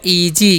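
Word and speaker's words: easy: है क्या करना है एस का उच्चारण ज करना है ठीक है और वाई का वन दीर्घ तो हो गया इजी क्या पढ़ते हैं इसे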